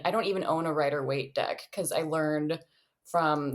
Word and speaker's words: Rider-Waite: Am I pronouncing Rider-Waite. Right? I don't know. I've never heard of this. Is that the name of the people who made it or something? Waite. So yeah. I think you're saying it right, Rider-Waite.